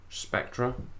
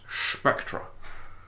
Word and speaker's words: Spectre: Spectre. That's how they say it in the trailer. Unless you're Sean Connery, where it's Spectra.